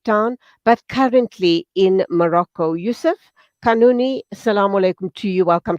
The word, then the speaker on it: Youssef Kanouni: lives in Cape Town but currently in Morocco Yusuf kanuni salaam alaikum to you welcome to the program I do hope I'm pronouncing your name correctly yeah yeah media